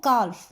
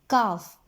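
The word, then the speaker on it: calf: और एल जो है वो काल्फ, यहाँ पर अब इसको का मतलब कालफ मत बोल देना, काफ, एल एल यहाँ पर क्या हो गया, साइलेंट हो गया।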